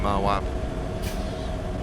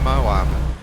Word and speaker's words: Moab: Here we are in Moab.